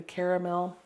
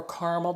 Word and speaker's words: caramel: different colors I like the caramel or caramel depending how you pronounce it I just love